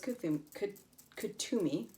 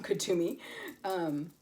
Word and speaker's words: Kuthumi: Okay, so Kuthumi, pronounced as Kutumi, I guess I'm saying it wrong, Kutumi, is an ascended master who appears to be well-dressed Indian man with a golden aura.